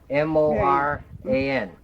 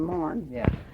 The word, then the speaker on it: Moran: That's Not Moran, Morn. That's unusual because that happens to be my mother's maiden name also, Was it? and pronounced the same way. They never pronounced it Moran, they pronounced it Morn.